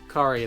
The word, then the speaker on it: Kari: was and that was kari were pronounced cari like ferrari i remember from the